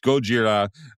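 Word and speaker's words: ゴジラ: So, it's gojira minus one.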